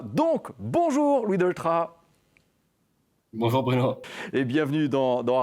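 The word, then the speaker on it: Delétraz: Vous savez que la plupart du temps, on prononce son nom de famille avec le Z à la fin, mais concrètement, il ne faut pas. Donc, bonjour Louis Doltra.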